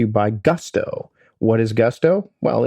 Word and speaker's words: Gusto: What is Gusto? Well, it rhymes with musto or rusto, as in let's do it once more with Gusto.